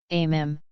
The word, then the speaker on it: meme: notwithstanding on the internet amm rhymes with cream is usually described as